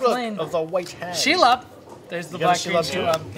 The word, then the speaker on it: Shelob: Shelob. Wes is going full spider. Shelob.